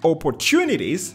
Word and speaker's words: opportunities: the face of change operations opportunities right the third syllable that's where the stress is growth voiceless th growth